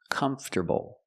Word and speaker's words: comfortable: bull together comforable comforable put the stress on the first syllable comfortable this is the easiest